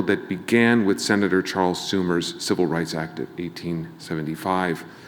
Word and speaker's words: Sumner: began with Senator Charles Sumner's Civil Rights Act of 1875. Sumner, rather, not Schumer. He's not been around that long, no. Charles Sumner, people, I said it right.